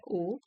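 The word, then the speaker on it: owe: You don't ओ ओ इसकी pronunciation है ओ your success to anyone.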